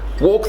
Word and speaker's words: walk: these words talk and walk so she makes a good point here the L is silent so it's not walk